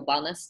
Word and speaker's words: Welnys: can just go to wellness comm and that's spelled a little funny it's wel NY s comm and from there